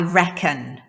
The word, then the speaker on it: reckon: Expression number 4, I reckon. I reckon. Attenti qui, l'accento cade sulla prima sillaba, non sulla seconda. I reckon, non reckon.